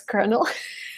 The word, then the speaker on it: colonel: main takeaway is that it's not calling oh it's Colonel it's so cool that